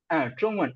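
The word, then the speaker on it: 中文: ட்ரோங்வன் ஜொங்கன் ட்ரோங்வன். ஸோ அங்க ZH வர்றதுனால நம்ம வந்து DCH ஆர் இஜ் சவுண்ட் நாக்க மடக்கி ப்ரொனவுன்ஸ் பண்ணுவோம்.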